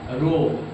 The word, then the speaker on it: rho: यहाँ पे रो जो है रो RHO, रो pronunciation, रो is constant of proportionality and called,